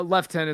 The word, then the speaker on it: lieutenant: I think they say lieutenant in America and he's like thank you sir that is how it's spelled it's just said weird cuz uh we do British pronunciations for some things here hey Jojo it's like